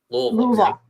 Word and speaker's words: Louisville: Louisville. Good for you. Less syllables. You got to hit the O's.